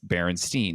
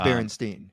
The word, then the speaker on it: Berenstain: We're slipping between the universes, and in other universes, it's Berenstein, not Berenstain. Okay. Because we have to admit, Berenstain does not sound as good. It may be pronounced Berenstain, but I think what you're getting at is